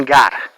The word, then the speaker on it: Gard: Et à côté dans le département gare garde il s'écrire G A R Dement il se prononce département gare c'est 30000 code postal